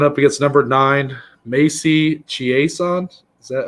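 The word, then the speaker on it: Chiasson: against number nine macey chiesand is that how you pronounce it yeah it's like from louisiana so it's like the french kind of thing it's a macy's song um obviously a lot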